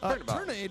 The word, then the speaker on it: Tornade: Tornade rhymes with marinade. Okay, I believe it is Tornade.